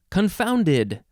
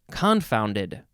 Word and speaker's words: confounded: an adverb next is confounded um this is an adjective from the 14th century you can say confounded confound it yeah or you can emphasize the first syllable confounded confounded confounded okay number one the